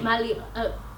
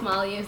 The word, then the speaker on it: Malinalli: to pronounce her to be like Miley up who's that then I was like it's mallya so I would like